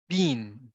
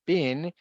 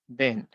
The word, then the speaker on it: been: pronunciation of this okay because sometimes we may pronounce it as being it is not being because bin is Freehold so in this case it will be something like bin so we have the subject plus have or